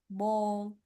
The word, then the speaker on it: bald: Cuando la A está así como en el medio, suena como una O. Como lawyer, so, talk, bald. So yes, lawyer.